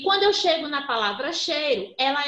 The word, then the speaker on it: cheiro: Quando eu chego lá em cheiro, ó, cheiro. Primeiro eu percebo na pronúncia que o I se apoia no E. Tanto é que a gente quase não pronuncia, ó, cheiro.